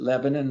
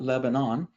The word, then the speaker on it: Lebanon: Lebanon, and that's how we pronounce it, Lebanon, not Lebanon.